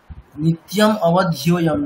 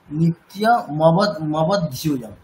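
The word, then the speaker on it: নিত্যমবধ্যম: নিত্যম অবধ্যম না, নিত্য মবধ্যম, মানে নিত্যম এরকম না, নিত্য মবধ্যম, এইভাবে উচ্চারণ। নিত্যমমধ্যয়ম।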